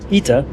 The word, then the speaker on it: ITA: very first time flying ITA or as I've learned in Italian it's called ITA I'm not really sure